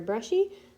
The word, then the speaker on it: Bruschi: this is coffee talk with Sarah Brushy I'm going to write my name right here so that you can see it and you can know where to find me um Sarah and Brushy is spelled like this and you can reach me